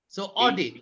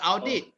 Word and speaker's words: audit: Untuk Bill and everyone else, the correct pronunciation of word starting with AU is O. So audit. Jangan kata audit.